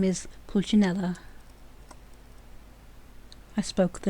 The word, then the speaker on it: Pulcinella: "Pronounced Pulcinella."